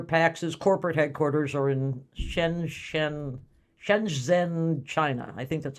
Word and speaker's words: Shenzhen: And just as a reminder, PACS's corporate headquarters are in Shenzhen, China. I think that's how you pronounce it.